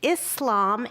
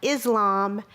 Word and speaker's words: Islam: everyone should know about Islam and Muslims. So number one, Islam and Muslims actually have the letter s. So it's Islam and Muslim, not Islam and Muslim.